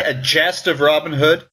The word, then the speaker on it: Gest: either a Gest or guest it's spelled g s some people say it would have been pronounced Gest some people think it would have been pronounced guest but the actual word